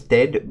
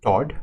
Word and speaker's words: Todd: I keep mispronouncing his name as Ted, but it's Todd, right?